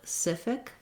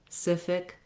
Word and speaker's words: specific: i'm going to naturally go to my old pronunciation so if you start with specific and then add your spa specific specific specific you'll probably get both the rhythm